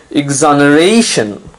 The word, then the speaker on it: exoneration: of exonerate is exoneration notice now you have to stress on the second last syllable the syllable right before tion exoneration it means the state